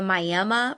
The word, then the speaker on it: Miami: No, I am from the Miami pronounced Miami in the far northeast corner of Oklahoma.